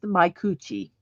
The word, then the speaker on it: Micucci: Her actual last name is pronounced Micucci. So Kate Micucci took over the role of Velma after Mindy Cohn.